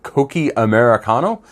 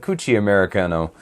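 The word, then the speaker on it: Cocchi Americano: or this, which is I believe it's pronounced Coqui Americano, but it looks like Cucci Americano.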